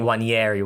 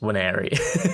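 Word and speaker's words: Nwaneri: I'm also quite guilty of saying Wanieri when it's just Waneri.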